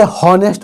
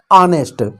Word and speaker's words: honest: सबसे पहले इसका लोग उच्चारण ही गलत करते हैं, इसे हॉनेस्ट पढ़ते हैं, जबकि इसे लिखा जाता है ऑनेस्ट।